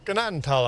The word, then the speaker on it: Gnadenthal: People seem to think the G is silent, but it's the H that's silent.